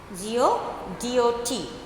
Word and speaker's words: Godot: They are waiting for a person, Godot, G-O-D-O-T, pronounced to be Godot, under a tree.